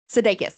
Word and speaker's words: Sudeikis: Sudeikis. I was like I know I'm going to pronounce it wrong.